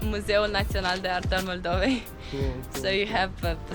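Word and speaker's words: Muzeul Național de Artă al Moldovei: Museu Nacional de Arta al Moldovei. Quite clever. How do you say it? It's Museu Național de Artă al Moldovei.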